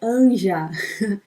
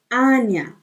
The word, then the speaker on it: Anja: O J, ele tem som de I, então não é Anja, é Anya. Anya.